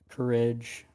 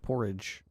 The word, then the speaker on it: courage: So, I get all his strength and courage acting ability. How did you just pronounce courage? Courage. Courage. Like courage. Like porridge.